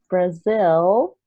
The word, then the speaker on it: Brazil: So I know this one is common because it has a final L sound, right? Yeah. So this is really difficult for Brazilians to pronounce. So if you want to practice the correct pronunciation, Brazil, you want to look